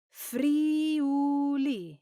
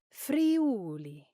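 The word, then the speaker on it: Friuli: Should you say fre or is it pronounced? Well, the correct pronunciation is free.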